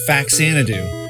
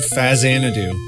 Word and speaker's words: Faxanadu: For over 30 years, I've been pronouncing the name as faxanadoo, and I love saying it like that, but the actual pronunciation is indeed fazidadu, and I'm really going